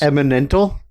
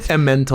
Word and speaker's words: Emmental: Eminental? How did he pronounce it? Emmental. Emmental. Sorry, Emmental.